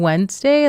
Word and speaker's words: Wednesday: The D is silent in Wednesday.